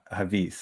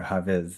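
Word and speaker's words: Hafiz: You know reminds me of a poem by Havis or Haviz and some people you know pronounce it differently and it goes like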